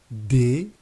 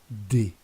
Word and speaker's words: des: The plural article, des, we don't pronounce the final S. So the plural article in French doesn't have gender. It's always going to be des.